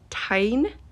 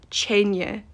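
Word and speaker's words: teine: The worst one is when she calls Mira's dragon Tyne. I don't know who that is. That word is Chenye, Chenye, and it means fire in Gaelic.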